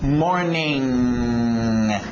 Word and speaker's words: morning: Sem, eu estou sem dinheiro, é mais ou menos esse som que a gente faz no português, nasal, Então, morning, ele fica no nariz, ok?